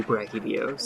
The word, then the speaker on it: Brachydios: title is the reason I've landed on that pronunciation, actually. Yeah. Because Oh. that's what makes the pun work. Yes. So it's gotta be Brachydios.